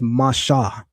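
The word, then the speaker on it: משה: I know in Lashon Kodash, people pronounce his name as Masha. Masha.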